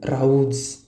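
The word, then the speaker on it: rows: इथं with his wife इथं राऊज असं प्रोनाउन्सिएशन यायला हवं विथ वाईफ कारण बायको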